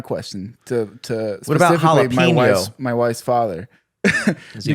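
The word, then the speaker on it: jalapeño: But my problem is like, why do you pronounce the J like that but not the N?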